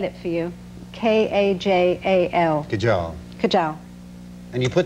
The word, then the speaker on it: kajal: the inside of my eyes, which is called kajal. I'll spell it for you. K-A-J-A-L.